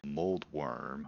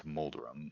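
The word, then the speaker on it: Moldorm: are the wizard dude mold worm or I just call them or sorry it's moldurem I just call him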